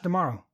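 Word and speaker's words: D'Amaro: Josh Dumaro. It rhymes with tomorrow.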